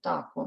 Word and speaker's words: dakwun: Dakwun, dakwun. You just, it's quieter than the word that comes before it.